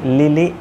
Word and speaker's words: Lily: সেটা হচ্ছে লিলি, এল আই এল এল ওয়াই, এল আই এল এল ওয়াই। এইখানে একটা জিনিস কেয়ারফুল থাকবেন আপনি যে এল সাউন্ডটা হচ্ছে এল, নট এল, আমরা ইউজুয়ালি যেটা বলি এল।